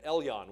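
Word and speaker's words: Elyon: o n l yon e l yo n Elon what does Elon mean literally means possessor of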